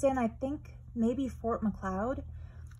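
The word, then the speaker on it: Fort Macleod: I think maybe Fort McLeod, which we call Fort McLeod because it rhymes with Ermagerd.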